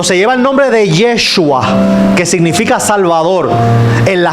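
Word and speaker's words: ישוע: Curiosamente, cuando llevan el nombre de Jesús en griego, Jesús, cuando lo llevan al hebreo, que se pronuncia Yeshua, cuando sacan el número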